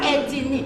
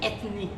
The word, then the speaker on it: ethnie: On ne dit pas etnie ça ne s'écrit même pas ethinnie. On dit ethnie.